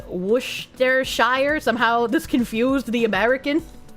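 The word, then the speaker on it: Worcestershire: Worshshire is literally pronounced Woohshire.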